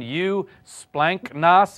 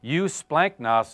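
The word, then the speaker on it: εὔσπλαγχνοι: tender-hearted and compassionate again you splanchnic is how you pronounce that word the G is like an N or an almost an ng in the Greek language so you splanchnic is the word that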